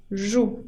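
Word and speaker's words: jouent: Il joue con ENT que no se pronuncia au rugby dans un club.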